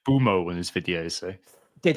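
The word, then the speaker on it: Mbeumo: I say Boomo because it's like Bumo, yeah. I think I usually say Mburmo, but yeah, it could be Bumo. Anyway, either way.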